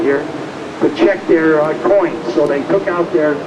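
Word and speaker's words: quoins: molding and they're called coins pronounced like a nickel or a dime but spelled q o i ns they're called coin post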